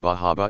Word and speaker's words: Bar Harbor: special down east accent where the r sound is being dropped bar harbor is pronounced like bahaba and lobster sounds like